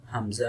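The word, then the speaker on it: ء: Let's move Hamza and Ha. So Hamza and Ha is produced from lower throat.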